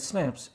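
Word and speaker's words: Schnapps: स्नैप्स which is pronounce as स्नैप्स, a German drink made from grain.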